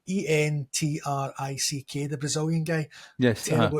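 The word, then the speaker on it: Endrick: They've also got Enrich, not Enrich, sorry, Entrick, the Brazilian guy.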